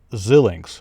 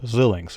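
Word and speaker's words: Xilinx: up um xlnx uh i keep forgetting how to pronounce it as zillings zillix i think that's how you pronounce it so again generally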